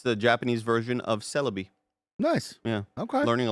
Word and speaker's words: Celebi: Found out how to pronounce that today. Nice. It's the Japanese version of Celebi.